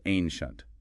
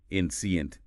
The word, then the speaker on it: ancient: It's ancient. Two syllables. Don't stretch it out like incient.